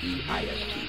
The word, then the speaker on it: deist: I could be misspelling it, it could be D-E-I-S-T, but there's the I before the E or the E before the I, but it's pronounced deist.